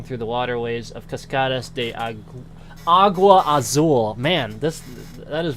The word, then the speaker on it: agua: agua probably would write it's not Aqua it's agua agua Azul I don't know I